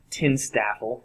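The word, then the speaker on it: TINSTAAFL: and it's an acronym tin staffle is how you might pronounce that but all it stands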